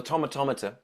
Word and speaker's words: Tomatometer: like I think on Rotten Tomatoes on the tomatometer as has been decided by the internet as how it's we pronounced because I I did a video and